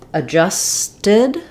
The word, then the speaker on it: adjusted: in adjusted and at we don't really say that D so like the L in always um we actually we're because we're stressing on the J syllable this is the letter a is going to be the uh an unstressed schah sound um and this symbol